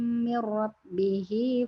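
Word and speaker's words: من ربه: Nah, kalau di sini mir rabbih-nya jadi tebal. Karena setelah min ro-nya tasdidnya ada di faman ja'ahu mau'izatun mir rabbih fantaha falahu ma salaf gitu.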